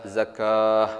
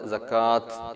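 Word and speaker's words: زكاة: അപ്പൊ ഇവിടെ നമ്മൾ എങ്ങനെയാണ് വഖഫ് ചെയ്യേണ്ടത്? വഅഖീമുസ്സലാത്ത വആതുസ്സകാഹ്, ഇങ്ങനെ ഹാഇന്റെ ഉച്ചാരണമാണ് പുറത്തേക്ക് കേൾക്കേണ്ടത്. വഅഖീമുസ്സലാത്ത വആതുസ്സകാഹ്, അവിടെ നമ്മൾ സക്കാത്ത് എന്ന് നമ്മൾ വഖഫ് ചെയ്യരുത്.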